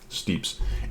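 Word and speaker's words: Steppes: So, it's Steeps for any of you new people. This is how you pronounce this map, Steeps.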